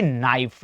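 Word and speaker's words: knife: के एन आई एफ ई। सर के एन से पहले क्या आ रहा है? के आ रहा है। यानी के कुछ नहीं कहेगा, चुप रहेगा। यानी इसकी प्रोनाउंसिएशन क्या हो जाएगी? नाइफ यानी कि चाकू।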